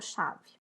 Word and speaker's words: chave: Qual eu falei por mais tempo? Chave. Aqui eu tenho última sílaba, penúltima sílaba. Se é a penúltima sílaba, essa palavra é paroxítona.